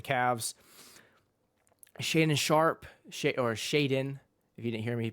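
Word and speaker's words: Shaedon: league for the Cavs Shaden sharp sha or Shaden if you didn't hear me pronounce it correctly Shaden sharp is injured so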